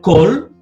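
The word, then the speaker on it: כל: Si está la palabra kol, siempre es una O, nunca una A.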